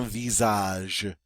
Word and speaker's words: visage: go aage all right that s is pronounced like a z because it's between two vowels so it's a Visage and what's your Visage